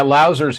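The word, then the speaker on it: Lauser: And David, I think, does he pronounce his last name Louser or Louser? Yeah, Louser's how I've always heard it said.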